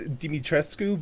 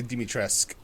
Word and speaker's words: Dimitrescu: say her name again it's dimitrescu but they in the game they say dimitresque i mean could they